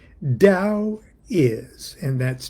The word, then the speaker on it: Tao: Lao Kun, the master, said, Tao is, and that's T-A-O, it's pronounced Tao.